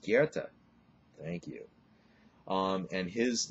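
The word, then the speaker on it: Goethe: say oh that's spelled gothi no it's not gothi it's pronounced Kera thank you um and his novels one of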